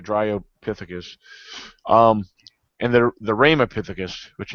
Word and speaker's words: Dryopithecus: and keep in mind you got the Australian Pithecus, and then you got the Drypithecus. Yeah, Dryo to pronounce it right, Dryopithecus.